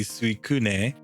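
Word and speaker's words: Suicune: supposed to be pronounced if I were to pronounce it in Japanese it would be s Kun because uh that's how you would pronounce that but uh either way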